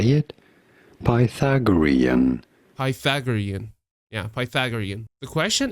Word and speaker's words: Pythagorean: let's hear it how do you say it Pythagorean Pythagorean yeah Pythagorean the question is Pythagorean numbers